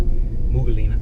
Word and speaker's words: Umm Ghuwailina: I live in a place called Umm Ghuwailina, but they pronounce it Umm Ghuwailina.